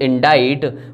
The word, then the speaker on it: indict: लिखा इंडिक्ट है लेकिन इसकी प्रोनाउंसिएशन इज इंडाइट। वर्ड है इडिक्ट।